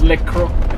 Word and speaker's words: Le Conquet: Anyway, let's get us back on our plan of visiting where the hell it was, Le Conquet. We don't pronounce the T. We've moved on from Le Conquet.